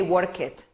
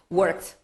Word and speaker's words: worked: We don't say work it, worked, right?